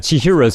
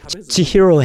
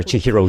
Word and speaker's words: Chihiro: nine minutes she's set those parents I mean she heroes parents I keep saying her name wrong while her parents eat the food feverishly Chihiro has a bad feeling so she leaves the